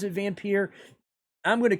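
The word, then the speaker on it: Vampyr: creators of the game the creators of the game call it vampire okay even though it's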